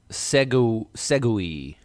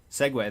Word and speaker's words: segue: An update to segue to Segui. Tell us. Is that how you pronounce it? Segway. That's it. Oh, it's not Segui.